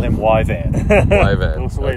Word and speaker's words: Yvan: and call him Yvan. Ivan. That's the way it's Okay. spelled because no one can really pronounce it.